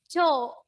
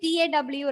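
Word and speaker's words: τ: No, I'm just right there for the pronunciation. It is read as cho. Don't write TAW like that.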